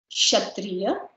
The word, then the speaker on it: Kshatriya: So here K is silent. Kshatriya.